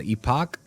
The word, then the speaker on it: epoch: it's every 5 days you have what's called epoch, and or Epic, as or I'm not exactly sure the pronunciation.